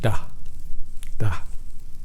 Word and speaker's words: dah: da da the ah but you don't you don't emphasize the h sound at the end it's just a soft edge da da right not da da